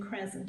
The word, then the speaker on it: crescent: nice strong s but you can't hear the sea all right now a